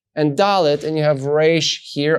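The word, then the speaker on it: ד: And you will know that you pronounce this as the sound da. So dalet, making the sound da, has the tail.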